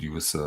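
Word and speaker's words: ewe: a little bit in english or you could use the word for rem like the masculine and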